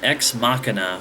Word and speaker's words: Ex Machina: watching a movie called X makina which I believe is the correct pronunciation for that anyway uh just diving